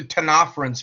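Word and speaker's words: Ctenophores: So let's go yeah let's go with the tenafhins first. The C is silent in both of those words.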